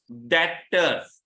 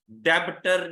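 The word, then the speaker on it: debtors: डेटर्स, डेब्टर नहीं पढ़ना, बी को साइलेंट करके पढ़ना, लिखना जरूर, डेटर्स या ट्रेड रिसीवेबल्स।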